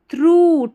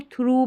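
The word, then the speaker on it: through: ऑफ the universe universe थ्रू टी एच आर ओ यू जी एच को आपको थ्रू पढ़ना है। थ्रू जी H silent है। थ्रो नहीं पढ़ना है।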